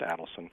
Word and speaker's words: Adelson: By the way, that's how it's pronounced, Adelson.